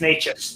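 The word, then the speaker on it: Nečas: So I think it's Necas. That's how they say it on the broadcast.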